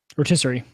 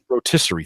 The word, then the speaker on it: rotisserie: Is that how do you pronounce that? Rotisserie. Rotisserie.